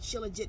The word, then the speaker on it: shilajit: uh taking trilogy um it spells like at s-h-i-l-j-i-t El it's spelled like shilajit but a syllogy I'll